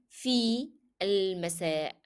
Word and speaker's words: في المساء: Why do I moved from fa directly to lam? Sorry, from fi to lam? Because alif here cannot be pronounced. It is preceded by a vowel letter which is a long vowel ya. So you need to move from في المساء. في المساء. As if there is no alif.